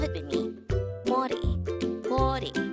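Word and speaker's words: 머리: This is pronounced as a two-syllable word. The first syllable is mo, and the second syllable is ri. Pronounce it with me. Mori.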